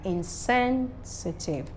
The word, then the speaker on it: insensitive: next is um insensitive now when you add a prefix to reward naturally words that end with t-i-v-e are stressed on the first syllable now the presence of the prefix doesn't change it it's still on that's very syllable when there is no prefix so my stress will be on what sensitive insensitive then I have words